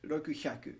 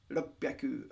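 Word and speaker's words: 六百: Try saying Ichicho and Rokuhyaku. Yeah, so it's Ichicho, Ropyaku, or Sansen.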